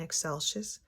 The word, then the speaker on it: Excelsis: Say it like you're saying eggshells. And then add the end.